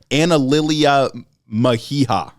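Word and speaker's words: Analilia Mejia: Her name is pronounced Analilia Meha.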